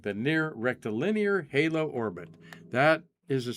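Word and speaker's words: rectilinear: I was pronouncing that wrong. The near rectal linear halo orbit.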